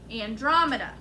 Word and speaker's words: Andromeda: newest neighborhood is the use the pronunciation key what's the first syllable second syllable drum next syllable last syllable so andromeda if we put it all together no spaces it sounds like andromeda who can help him